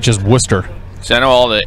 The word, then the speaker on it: Worcester: is owd o r is o r is Worcester so I know all the areas around it's pronounced War it's spelled Worchester but it's definitely